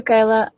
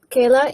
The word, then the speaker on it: Kayla: be unmuted thank you kyla uh kayla is that the correct pronunciation of your name yes thank you i apologize